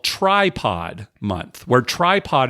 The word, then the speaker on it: Trypod: called tripod month where tripod is spelled TR r y p o d like try podcasting right try try it out